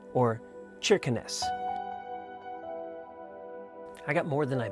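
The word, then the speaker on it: Kirkenes: talk about the name it looks like it's pronounced kirens at least it was for me but it's not not by a long shot it's actually pronounced churin or cheness I got more than I bargain for on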